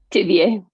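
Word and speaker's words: Thiviers: Vieux, France. In how do you say it? Tivier. Tivier, France, in the Dordogne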